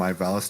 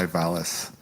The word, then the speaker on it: Ivalice: that they call it Ivalis. Interesting. Yeah, no. Right? So when he said when Larry pronounced it Ivalice and I said Ivalis, he's like, "Oh wait, you're pronouncing it wrong."